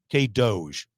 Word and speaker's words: K-DOGE: K-DOGE. I'm getting a nod over there. Yes, that's how you pronounce it.